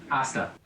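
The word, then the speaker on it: hasta: Asta, you don't pronounce the H? Asta.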